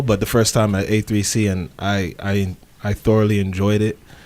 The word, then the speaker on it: A3C: So I wanted to, say you guys just came back from Atlanta A3C Yes. weekend. Yes. AC3 fam?